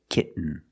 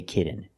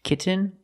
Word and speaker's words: kitten: the N example kitten you can say kitten but most people say kitten you do the stop T kit you don't release and